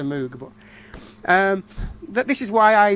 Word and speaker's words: Moog: I must say it right, Moog. I sometimes slip into Moog, but this is why I love the live album.